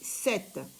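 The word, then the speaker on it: sept: vais l'écrire en lettrre s e P t 7 ça s'écrit se et ça se lit 7 la lettre P est une lettre muette 8 là il est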